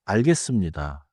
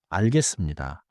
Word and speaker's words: 알겠습니다: One pronunciation note. In natural speech 알겠습니다. often sounds like 알겠습니다. But you should read and write. 알겠습니다.